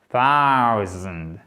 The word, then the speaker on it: thousand: C'est AO. Vous voyez, c'est pas O, c'est AO. AO. Vous voyez? Thousand. Et là, le S se prononce comme un Z. Ensuite, je vais revenir à ce signe-là, ce qu'il est capital. On va le voir ici. Et ensuite, vous prononcez le D.